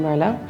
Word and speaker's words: Merlot: The T is silent in Merlot, so it's Merlot.